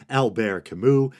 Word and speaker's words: Albert Camus: some people say Albert I'm choosing what's closer to the French pronunciations Albert Camus and Ann Wilson had